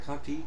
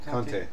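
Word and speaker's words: Conté: Did I pronounce it right? Conti? Conte.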